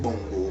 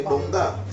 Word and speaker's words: Bongah: But people don't pronounce it Bongo. People say Bongah.